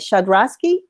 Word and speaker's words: Schodroski: start with you make sure I have that pronounced right shut röszke that is correct okay doctor tell